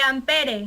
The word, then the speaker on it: ampere: o sea dice claro se escribe ampere pero se pronuncia amper o sea sin la e sin la última e Okay amper amper ya